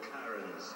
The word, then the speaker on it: Charon: Wretched souls walk this tortured path to board Charon's vessel. Oh. Yes, it's pronounced Acheron and Charon.